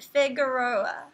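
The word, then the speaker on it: Figueroa: thank you you're welcome so Franco with the assist it's pronounced figuroa okay thank you much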